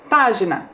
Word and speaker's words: página: palavra sorteada foi página percebam lá página a sílaba mais forte também é a antepenúltima a sílaba pá então percebam lá de